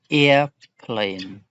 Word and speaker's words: airplane: And where is the stress on? The stress is on the ear, right? Airplane. Footnote.